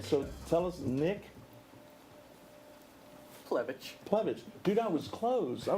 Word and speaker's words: Plevich: Plevich. Dude, I was close. I was pretty close. You just got to pronounce it the way it's Yeah.